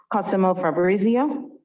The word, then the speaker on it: Cosimo Fabrizio: on my list and hopefully i'm pronouncing the same correctly cosimo fabrizio please come up to yes to the microphone and please speak directly into the microphone as well how's this you got the pronunciation right by the way thank